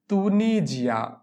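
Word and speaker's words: Tunisia: হবে এরপরে হচ্ছে তুনিজিয়া তুনিজিয়া দেশের নাম হচ্ছে তিউনেশিয়া তউনিশিয়াকে বলা হয় তুনিজিয়া এখানে তুনিজিয়া হবে কারণ এস যদি দুইটা ভোকালের মাঝখানে থাকে তাহলে এস এর উচ্চারণ হয় জ এর মত তুনিজিয়া তুনিজিয়ার ছেলেদেরকে বলা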